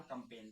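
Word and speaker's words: campaign: यदि जी के बाद एन आए तो हमारा जो जी होता है वो होता है साइलेंट।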